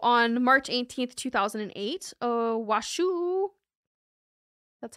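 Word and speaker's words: Washoe: anywhere yeah so on March 18 2008 uh washu that's how it said that's how it's spelled washu washu County jury delivered a 590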